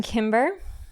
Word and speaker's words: Kimber: I'm Kimber. Hello friends. Happy to be here. I always say my name is like the gun brand. There's a gun brand name Kimber, but I spell it